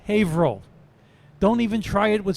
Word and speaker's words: Haverhill: just north of Boston it's print it's spelled Haverhill but pronounced Haverhill don't even try it with siri it won't